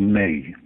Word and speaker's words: Me: And the hard drives of these computers are something called a May. It's spelt M-E, but pronounced May, as in the month of May.